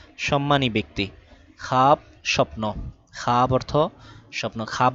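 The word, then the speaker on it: خواب: খাজা অর্থ সম্মানী ব্যক্তি তারপরে খাওয়াব পড়ি নাই খাব পড়েছি মানে ওয়াও সাইলেন্ট ওয়াও পড়তে হবে না খাব অর্থ স্বপ্ন খাহেশ খাওয়া হেশ ছিল ওয়াও সাইলেন্ট এজন্য খাহেশ খাহেশ অর্থ ইচ্ছা।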